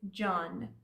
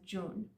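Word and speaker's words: جان: few times before that words that have "un" in them are typically pronounced "un" in spoken Persian. So you might have also heard John pronounced as June. So both pronunciations are fine, and I would say they're both equally as commonly used.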